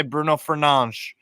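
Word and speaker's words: Fernandes: do that if you want to I'm gonna pronounce it the correct way because I know how to so I'm gonna say Bruno fernange because it's Portuguese I'll tell you what do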